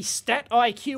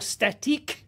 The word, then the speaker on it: StatIQ: you go that's the stat IQ or static I'm sure it's how it's pronounced uh banned from Iona